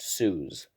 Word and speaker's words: Suze: finch off a ledge she was susie until ninth grade when she stopped when she dropped the i now it's pronounced sues yes please god i